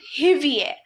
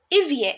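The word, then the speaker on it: hiver: I'm not pronouncing it hivier I'm pron pronouncing it ivier h is silent h is always silent in French okay ilf fru Ilf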